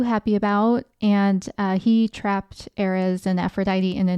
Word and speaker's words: Ares: the Greek name was Ares. Ares is how it's spelled. Very close to Aries, but I think pronounced a little differently.